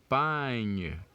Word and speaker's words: campagne: So we have the first syllables here for camp. That's a C-A-M. And then the second syllables takes it from the P-A ñ. You can see the G-N there, and remember we said it's pronounced ñ. So we say pagne for this second syllables. Pagne. Can you say it? Pagne. Which gives us campagne.